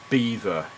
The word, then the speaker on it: Belvoir: um so drink this spell Belvoir but it's pronounced Beaver if you're up north at least what's it